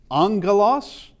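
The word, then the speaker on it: ἄγγελος: But when there is a double gamma, it's now the ng sound. So it's uh angalos uh does not have a a new in here.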